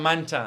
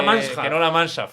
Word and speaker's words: Mancha: el El Gran debe la gran mancha que no la mansha sino la Mancha está muy bien esa eh que ya no